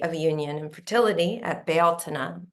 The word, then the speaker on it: Bealtaine: It's like the fullness of spring, and that's the gate of union and fertility at Bealtaine, which is how it's correctly pronounced.